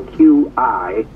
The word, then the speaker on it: Qi: It's a capital Q-I. It's pronounced Qi, C-H-E-E.